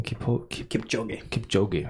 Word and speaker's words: Kipchoge: How you pronounce his name? Kipchoge.